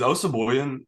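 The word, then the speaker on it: Osabuohien: Graham, is Osaboyan?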